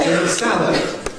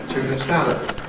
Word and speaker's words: tuna salad: Where does the main stress go? Salad. Tuna salad. Tuna salad.